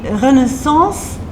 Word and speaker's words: Renaissance: And we are in the Renaissance University. I say Renaissance because this is the French way of pronouncing it.